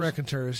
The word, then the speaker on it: Raconteurs: The Raconteurs? Raconteurs, yeah.